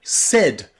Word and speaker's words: said: words where you'll see the letter a I pronounced e but here in the word said I said he said she said we said the A and the I are pronounced e e okay practice this sentence